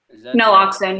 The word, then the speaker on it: naloxone: more treatment and Naloxone, is that how you pronounce it? Naloxone, yes.